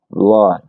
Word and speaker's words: blood: Hay un caso en particular que recuerdo ahora cuando tiene W y no se pronuncia como U, pero son escasos. Por ejemplo, si tienes la palabra inundación, bueno, tienes ah, bueno, dos que recuerdo en este momento, por ejemplo, flood, inundación o sangre. Blood, sí, que mira que